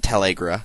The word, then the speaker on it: Talgera: I know it looks like Talrega, but they pronounce it Talgera in Radiant Dawn, I believe.